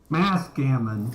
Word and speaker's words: Mathghamhain: Last part is Mathghamhain, which it's Old Irish Gaelic. I don't expect anyone to get it. Mathghamhain.